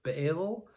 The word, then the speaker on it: Baal: but also ba'al or baal b-a-a-l there's i guess a few ways you could pronounce it baal ba'al um and so that's